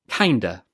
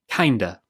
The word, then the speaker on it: kinda: Kinda. Kinda. Kinda means kind of. Of is often pronounced as when we're speaking fluently, so it becomes kinda.